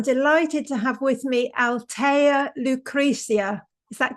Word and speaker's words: Althea Lucrezia: Today I'm delighted to have with me Altea Lucricia.